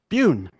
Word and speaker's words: Bune: So this is Peter Bune. Bune. Bune. Oh, I kept pronouncing it. I kept practicing it. But okay, and I know you sent me the pronunciation. I'm sorry I messed that up. Sorry. It's all good. My whole life I've been having to help people say it. It's a Filipino last name.